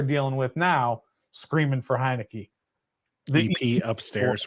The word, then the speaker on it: Heinicke: he's gonna point out that heinecke three syllables Jacoby three syllables so